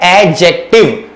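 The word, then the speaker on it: adjective: ध्यान रखें, इसमें एडजेक्टिव होता है, डी नहीं बोलते हैं, एडजेक्टिव नहीं होता है, क्योंकि इसमें डी साइलेंट होता है। तो इसका प्रोनाउंसिएशन होता है एडजेक्टिव।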